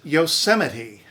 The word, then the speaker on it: Yosemite: Penelope, Persephone, epitome, epitome, hyperbole, hyperbole, antithesis, antithesis, Yosemite. That one isn't actually from Greek, but we took it from an indigenous language and spelled it as though it were a Greek word. It's Yosemite.